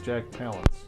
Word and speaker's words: Palance: after you which which according to page one of Google that is the way he pronounces his name was Jack Palance not PL wow Earth breaking a lot of people call him Jack Palance like we all just